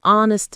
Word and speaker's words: honest: So, we say an honest man, too, because the H is silent.